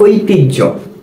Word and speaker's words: ঐতিহ্য: কিন্তু যেহেতু হ জফলা এর উচ্চারণ হয় জহ এরকম, এজন্য আমরা করি কি? ঐতিহ্য, ওই ত রস্যিকার টি হ জফলা, ঐতিহ্য।